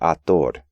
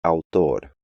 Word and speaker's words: autor: In English, the AU combination is often just pronounced A, which makes English speakers want to pronounce these words like aplauso, audio, and autor, when they should be aplauso, audio, and autor.